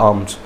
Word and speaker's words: alms: होती है, पैसे देते, उसको बोलते हैं आर्म्स, ALMS, आर्म्स, L silent है, आर्म्स।